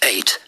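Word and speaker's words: Eyot: 8 although it's spelled e yo T it's pronounced 8 it's an old Saxon word for Island it's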